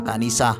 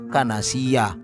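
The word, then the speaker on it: كنيسة: Lagi-lagi kesalahan pada kata kanisah yang dibaca kanasiyah.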